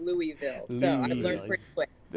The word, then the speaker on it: Louisville: Derby is pronounced Louisville. Exactly. Louisville. Yes. Yes. Louisville. Like you got to kind of like swallow your tongue a little bit.